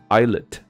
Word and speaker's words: islet: 那这个小岛呢，它的发音叫做 islet，那它的拼音是 islet，所